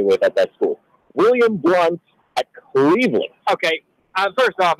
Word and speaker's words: Blount: it is spelled like Blount, but it is William Blunt. It's pronounced Blunt.